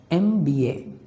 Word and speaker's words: MBA: So, MBA is pronounced as MBA starting with a vowel sound E.